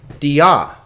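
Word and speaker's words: διά: that follows if possible here's an interesting one dia dia notice here that there is this is not a diphthong alpha iota is a diphthong iota alpha is not so this is two separate syllables d ah dia but now here's an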